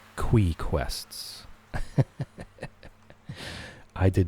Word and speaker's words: Qi: I was very surprised that it's pronounced Quee Quests. I did not see that coming at all. That was a huge, just absolutely blew my mind. QI is pronounced Quee.